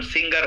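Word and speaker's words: singer: সিঙ্গা না গ উচ্চারণ হবে না সিঙ্গা সিঙ্গা সিঙ্গা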